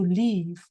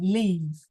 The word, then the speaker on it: leave: But if you say we were supposed to leave. So remember it's a long e. Imagine your mouth smiling. E. Yeah. Leave.